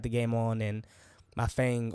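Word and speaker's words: Feng: game on and my Fang or fun that's her that's how you really say her name she has in her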